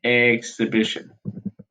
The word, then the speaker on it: exhibition: It was actually built as a part of the World Exhibition. Okay, exhibition. And the H is silent when you speak the word exhibit, by the way. Okay, so think of the H as silent, exhibition.